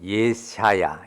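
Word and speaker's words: ישעיה: 이렇게 생각할 건 아니고요 원래 그 히브리 발음으로는 예시야 예시야 뭐 이런 식의 발음이 가까운데 번역하는 과정에서 이사야가 된 것입니다 그 이름의 뜻이요 여호와는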